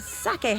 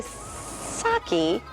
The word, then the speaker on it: sake: Hayashi, General Manager of Sake House in Phoenix, Arizona. But first, I want to say it correctly. So I'm not going to say sake, right? Definitely not. Say sake.